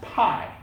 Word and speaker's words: pi: them stand for a thing a number called pi now so it's pronounced pi right now here's what they found out some